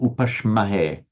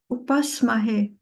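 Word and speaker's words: उपास्महे: So is it upashamahe or upashmahe? No, upasmahe. Upasmahe. So it's, from what you said, Upasmahe.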